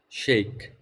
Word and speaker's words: Sheik: Can I pronounce your name as Sheik? Shake. Sheik? Awesome. How's it going, Sheik?